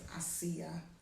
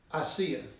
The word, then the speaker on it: Asiya: I said her name wrong. Her name is Asiya. Asiya.